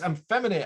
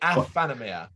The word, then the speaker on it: Aephanemer: brenton head banging life reaction time and it's i'm feminine i'm amphetamia i'm feminine am i saying it right no it's anime asphanomia a afanomia it's this band is uh what are your